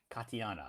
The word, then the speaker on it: Katiana: are off the table Katiana yes I pronounced it correctly I'm horrible at pronouncing names but I'm glad I did pronounce your name correctly Katia Katiana anyway um